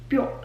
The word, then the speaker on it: Bjorn: Viking her name's Freya the guy's name is Bjorn Bjorn bjor yeah that's how you say it